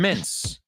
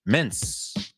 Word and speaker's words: mints: So, yes, the words are homophones because that T, not only is it uncomfortable to pronounce, but I don't think I've ever heard anybody say it in the plural. Sure, in the singular, say, I want a mint. Claro, hay que decir, no se dice min. But the moment you put the S in there, I want some mince.